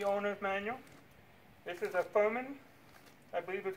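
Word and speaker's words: Firman: This is a Furman, I believe is how you pronounce it. Furman, I looked it up.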